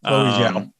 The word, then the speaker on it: Chloe Zhao: and the directing pedigree of, how do you pronounce her name? Chloe Zhao? Yes, Chloe Zhao.